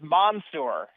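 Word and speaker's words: Mansoor: for the last name the first name is Monsour he'll make sure that you get that right away Monsour delay Monsour okay I like it very much mono Monsour delain Okay so we've learned something there that's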